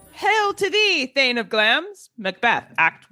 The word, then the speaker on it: Glamis: And just in case you've only seen it written, it is pronounced Glamis, not Glamis, as our guest this week instructed me.